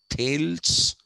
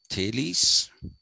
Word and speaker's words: Thales: first is thales okay it's not tails it is thales the second is an